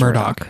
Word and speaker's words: Murdaugh: It's written Murdaugh, but it's pronounced Murdoch.